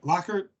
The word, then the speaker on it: Lockard: Lockhart?